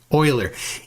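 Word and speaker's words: Euler: uh centrifugal corololis um u uh oiler forces are are uh also now listen for oiler e u l e r oiler listen to to how Austin pronounces it goes to my question this goes to my Mr.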